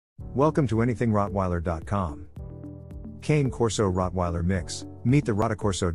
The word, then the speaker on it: Cane Corso: The Cane Corso, pronounced Cane Corso, is becoming more popular as more people are choosing to guard and protect dog breeds for themselves and their families.